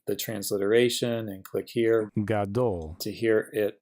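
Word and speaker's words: גדול: This symbol here is just where we're showing the accented syllable. Then we have a cholam vav and a lamed. So G, A, D, O, L, gadol.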